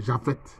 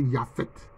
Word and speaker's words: Japhet: l'ancêtre des Asiatiques, c'est Japhet. En fait, ça doit se prononcer Yaphet. Mais ça s'écrit en français Japhet.